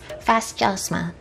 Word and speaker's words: Fasjosma: it and they did give me the proper pronunciation so it is fascism so i felt a little silly asking that